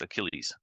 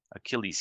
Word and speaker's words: Achilles: ailles is heel yeah not Achilles is just Achilles Achilles heel Achilles heel okay good to challenge someone